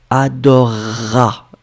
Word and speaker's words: adorera: C'est adorer plus a, mais le e phonétiquement disparaît, adorera, d'accord?